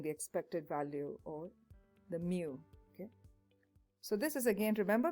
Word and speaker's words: mu: it starts off with a long stroke so mu u is how you pronounce it mu is a greek symbol to indicate expected value